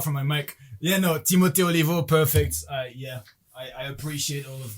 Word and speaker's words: Timo Oliveau: Yeah, no, Timo Oliveau, perfect. I appreciate all of the weird pronunciations of it.